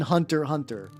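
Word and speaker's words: Hunter × Hunter: For many years I thought you were supposed to pronounce the X in Hunter. Hunter.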